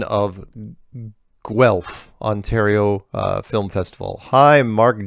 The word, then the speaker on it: Guelph: however it should be pronounced like this Guelph G wel F when you list where